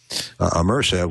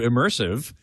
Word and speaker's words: ImmersAV: And my hope, which was sort of some of the underpinnings and starting of ImmersAV, was how can one bring a true surround experience to people that they can use?